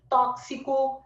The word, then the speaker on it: tóxico: Tóxico é uma letra e dois fonemas, a não ser aquele povo que fala tóxico. Ai, meu Deus, aquilo intoxica a nossa mente, né? Eu fico pensando, quem fala tóxico deve pegar um tache, que não é possível, tá?